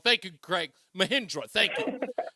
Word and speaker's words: Mahindra: I pronounced it wrong. Thank you, Craig. Mahindra, thank you. Mahindra.